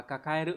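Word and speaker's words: 抱える: Thì đọc là kakaeru, chúng ta sẽ có đáp án đúng là số 4, đúng nhỉ?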